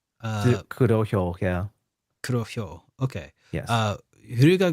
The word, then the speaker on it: Kurohyo: of the 2010 Yakuza game, PSP title, spin-off Kuryo. It's a hard word to pronounce. Kurohyo. Kurohyo, yeah.